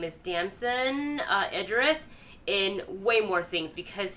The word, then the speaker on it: Damson Idris: So I love seeing that, but I also can't wait to see, I think how you say his name is Damson Idris, in way more things, because his performance is also incredible.